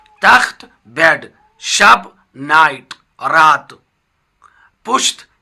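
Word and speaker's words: تخت: तख्त यानी बेड, इसका प्रोनाउंसिएशन तख्त है, तखत प्रोनाउंसिएशन तखत तलफ़ुज़ करना गलत है।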